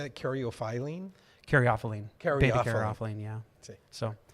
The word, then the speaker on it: caryophyllene: Caryophyllene.